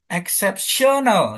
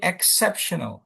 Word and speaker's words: exceptional: Contohnya ini accept exceptional. Coba yuk exceptional. Exceptional. Nah, tuh kan. Jadi bukan exceptional gitu kan bukan ya. Tapi exceptional.